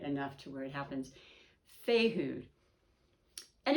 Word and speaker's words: Fehu: And it is Fehu is how it's pronounced.